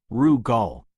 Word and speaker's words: Rugal: The first to enter was Lord Eric Rugal, pronounced Rug Gall, the embodiment of precision and balance.